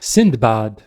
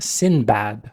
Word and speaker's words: Sindbad: Note the spelling in Sindbad with a D. That's how it's spelled in Arabic, Sindbad. But for some reason later on, people started dropping the D in the English translations. So today people know him as Sinbad.